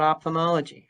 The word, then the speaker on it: ophthalmology: So first of all, let's talk about ophthalmology. How do you spell it?